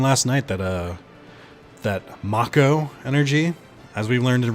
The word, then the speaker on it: Mako: I just learned last night that uh that makko energy as we learned in remake is how it's pronounced and we all know that uh nobody